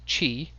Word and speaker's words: q: to listen just remember the cue is pronounced Chi butcher and if you